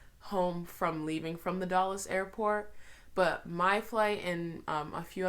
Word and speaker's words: Dulles: that Airport before but it's like do you ll es I think but people say it like Dallas Airport so I was very